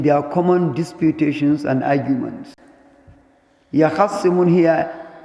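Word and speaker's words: يَخِصِّمُونَ: يَخَصِّمُونَ here, originally it was يَخْتَصِمُونَ, but the ta here is hidden in the ha. That is why it is pronounced as يَخَصِّمُونَ.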